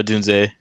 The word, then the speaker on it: Odunze: playoff games, and is it Odunze? Is that how you say it? Or how do you say his name? Go ahead, Chad. Yeah, Dunze.